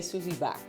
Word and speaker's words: Susy Baeck: Or do you say Susy Baeck? No, maybe I said The Germans say Susy Baeck, but we say Susy Baeck. Okay. Yeah. That's the correct way to say it.